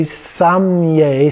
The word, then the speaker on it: samaye: But what we often see is a samiye kind of sound. Or a samye. Some people almost leave the E out in pronouncing it. So samaye. And so the closer it gets to a samye kind of a sound.